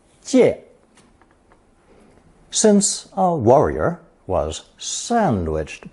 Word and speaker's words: 介: It's pronounced fourth tone. 借, 借.